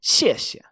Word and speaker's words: 谢谢: which is the letters we can recognize it's pronounced xie xie xie xie and note here how Chinese repeats